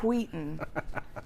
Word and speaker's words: Wheaton: up in we pronounced Wheaton it is Wheaton it's a hard H yeah uh yeah so